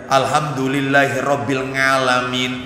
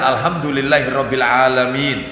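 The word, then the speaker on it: الحمد لله رب العالمين: Apa kesulitan iya Alhamdulillah Alhamdulillahi robbil ngalamin ini nggak paham ini sudah ya yang benar alhamdulillahirobbilalamin nggak paham bahasa Arab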